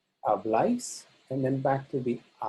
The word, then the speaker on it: habláis: In the nosotros and vosotros, the bla is stressed. Hablamos, habláis, and then back to the a.